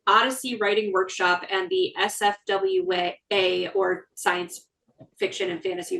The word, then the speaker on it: SFWA: SFWA? SFWA, yes.